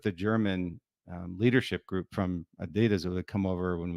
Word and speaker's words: Adidas: Adidas, and that's the Adidas brothers. Hey, by the way, I'm very proud of you for actually pronouncing Adidas the way it should be pronounced, not Adidas.